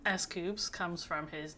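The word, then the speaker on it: S.Coups: Which includes scoops. The name escoops comes from his name central the s and coup d' detect which means great success as everyone knows but also not pronounced like coup.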